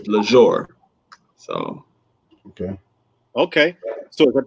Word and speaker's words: Lesr: The only difference is I put the accent above the E and gave it more of a luxurious pronunciation, which is Lesr.